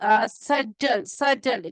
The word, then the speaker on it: subtle: The person is having sharp-witted, person is sharp-witted, quick, person is perceptive, bright, insightful, subtle. Pronunciation S-U-B-T-L-E word is, and the pronunciation is subtle.